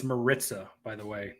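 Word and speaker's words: Maritza: brother how you doing good it's uh it's Marissa by the way not martiza you know I get a lot of slack for mispronouncing names but I deserve a pass in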